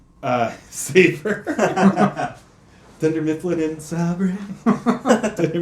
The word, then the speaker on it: Sabre: The Office here mixed things up, with Dunder Mifflin and Sabre, Michael leaving, Andy managing, and so... Is it pronounced Sabre? Saber.